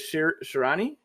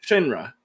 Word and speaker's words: Shinra: your force yeah yo i'm going to probably pronounce this guy's name incorrectly but is it shirani uh the main character yeah shinrosh shinra shinra i have a spell and i try